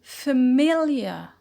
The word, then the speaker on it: familiar: word family family to familiar familiar so the stress shifted from fair to me so so we notice of our quality change from fair to full fair in family to fur in familia and um this is